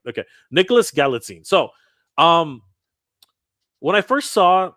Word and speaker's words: Galitzine: It's Galitzine. Galitzine. Nicholas Galitzine. Galitzine. Okay, Galitzine. Yeah. I'm gonna get it right. Okay, Nicholas Galitzine.